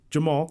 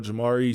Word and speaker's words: Jemarl: spelling of your name, it is Jemarl. Yes. As a Jeff with a G that gets mispronounced all the time. I understand sometimes that people don't want it to be just the most common pronunciation, but it is just Jemarl. Do you get some weird pronunciations of it sometimes? For sure. Jemarl, Jamari sometimes if they don't know it's an L at the end.